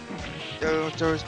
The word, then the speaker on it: Torao: Yeah, it's pronounced Toro versus Ah.